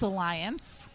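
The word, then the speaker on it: Allyanze: well also I think we were all pronouncing it because we were looking at it phonetically it is spelled a l l y a n z e uh makes sense now it's Alliance I can see it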